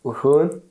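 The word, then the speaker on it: Rouen: So, next city was I need to pronounce it right. It's Wun.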